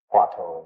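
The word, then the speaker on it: 話頭: Gong'an, Chinese, Japanese is kōan. Huatou is Chinese, Japanese is Huatou.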